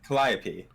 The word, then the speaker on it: Calliope: Calliope. Alright. Believe it or not, Posadas Pac-Man pronounced the name the first time right, and